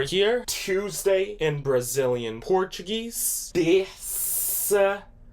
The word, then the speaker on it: terça-feira: Terça-feira. Terça-feira.